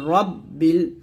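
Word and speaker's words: ربِّ: হবে আল আলহামদুলিল্লাহি রব্বিল এখন আমরা অনেকে রটাকে রা পড়ি এটা হচ্ছে রা বললে এটা পাতলা হয়ে যায় এটা কিন্তু ভুল উচ্চারণ রা বলা যাবে না র বলতে হবে তাহলে হবে রব্বিল আইন খারাপ আইনটা চাপ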